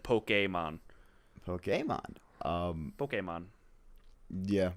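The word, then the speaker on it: Pokémon: I always saw like I saw the the accent on the e and I always made sure I said poke a mom ok mod ok mom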